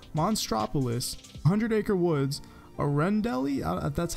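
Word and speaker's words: Arendelle: toys San fransokyo Monstropolis One Hundred Acre Woods Arend Elliot that's how you pronounce that rating garden Disney Castle and DP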